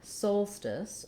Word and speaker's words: solstice: looking at the word solstice we have first syllable stress so my soul syllable is long and my stis syllable is short unlike most situations often when we have letter o in a stressed syllable it's actually going to be the ah sound that's what we see here in solitude letter o says ah but sometimes o does say o like in solstice and so i've rewritten